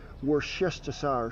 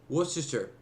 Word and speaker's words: Worcestershire: the Lee and perrins I'm gonna go ahead and say it worse desire sauce pronounce that sauce it's gonna call them out on it but they beat me to it worse chassar Worcestershire W sauce Worcestershire you know what the